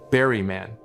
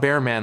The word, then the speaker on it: Berryman: was in trouble, and the way it pronounces Berryman is exactly how my granddad did, hitting the first syllable hard, Berryman. Not Bearman like some people say.